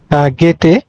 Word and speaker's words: Goethe: গেটে, গেটে বানানটা পুষ্পিতা মল্লিক ভুল লিখেছ ইংরেজিতে, কালকে বলে দিয়েছিলাম GOETHE, GOETHE।